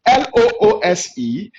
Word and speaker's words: loose: form of flues now this is quite interesting l-o-o-s-e is pronounced loose not loose what does this mean